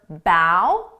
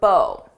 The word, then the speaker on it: bow: You can pronounce this as either bow or bow. It depends on how it's being used.